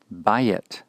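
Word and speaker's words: בַּיִת: Bayit, bayit. Again, the accent is on the first syllable in this particular word.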